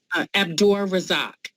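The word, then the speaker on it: Abdur Razaq: Abdur Razak. Thank you. Abdul Razak. Okay, Razak. Okay, I didn't see the No, Razak over Razak. there. It sounds like a K at the end. It's a Q.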